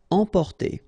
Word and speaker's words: emporter: Emporter, okay, same thing here for the nasal, emporter.